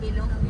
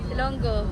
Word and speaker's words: Ilonggo: Visayas province of Iloilo lalaki ilongo Ilonggo tama ang sagot mali po ang pagkaka pronounce Ano ilongo ilongo po ay para sa may sipon Ilonggo Paano ba magsalita ang